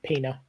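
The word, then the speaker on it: Peña: Michael pen in it p s it it's pronounced Pina p what's it on Netflix uh which one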